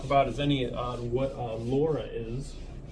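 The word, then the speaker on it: LoRa: So Laura, it's kind of a funny acronym. It stands for long range long brain. Not even kidding. And it's spelled like this with the L and the R.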